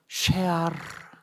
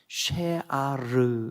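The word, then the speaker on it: שְׁאָר: 히브리 말로 쉐아르 이렇게 발음해요. 쉐아르 이렇게 발음해요. 쉐아르.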